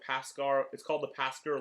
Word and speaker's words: Pasker: It is called, if I can find it, it's called the Pasker Lodge. If anybody watching is Jewish and you want a pronunciation, think Paschal Lamb from Passover. It is Pasker instead of Paschal.